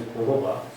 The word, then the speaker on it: jojoba: Jojoba is known as jojoba, pronounced as jojoba.